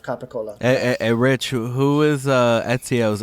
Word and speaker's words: capicola: But I don't think that is the correct pronunciation of capicola.